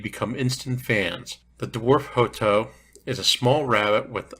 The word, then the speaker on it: Hotot: These are pronounced Hotot. Looks like hot tot when you look at the spelling. It's correctly pronounced Hotot, but sometimes you will hear it more often said as Hotot.